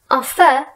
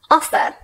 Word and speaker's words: offer: Let's look at a two-syllable word with no emphasis on the last syllable, like offer. It's not offer, it's offer.